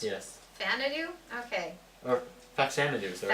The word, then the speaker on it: Faxanadu: Fanadu. Is that how it's pronounced? Yes. Fanadu? Okay. Or Faxanadu, sorry. Faxanadu.